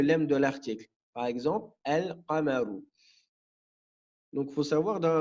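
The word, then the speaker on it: القمر: Le lem, ici, on va le prononcer. On dira al-qamaru. Donc le qaf, il fait partie des lettres lunaires. Donc le lem, on va le prononcer. On dit al-qamaru.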